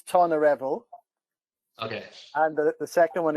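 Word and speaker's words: Tonyrefail: Tony Raphael. Brilliant. That's it. Enos Ebol. No, say that one again, please. Enos Ebol. The last bit's not too bad. So the first one is Tonarevol.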